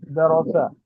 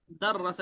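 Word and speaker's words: دَرَّسَ: और इसका पढ़ाना जो आपने अरबी वर्ड बोला है वो है दरोसा। ये बराबर पढ़ रहा हूँ मैं, दरोसा? दर्रसा, इसलिए इंग्लिश में भी उसका प्रोनाउंसिएशन मैंने लिख दिया, दर्रसा।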